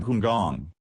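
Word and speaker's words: 香港: The source of the Romanized name is not known, but it is generally believed to be an early phonetic rendering of the Cantonese pronunciation Hungong.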